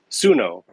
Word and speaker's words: Suno: Music AI Suno. That's it. Suno, how do you spell it?